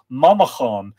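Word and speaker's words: Manchán: speak and his name of course is Manon Manan and by the way if you're wondering where's that name Monon come from the Irish Monon M an c h a father n would be pronounced Mamon and it literally means little monk so it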